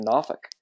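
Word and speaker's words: Norfolk: from Virginia Beach I was actually born in NK and that is the proper way to set pronounce it my father was um in the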